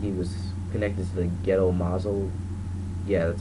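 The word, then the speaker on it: Gedō Mazō: I think he was connected to the ghetto mazo.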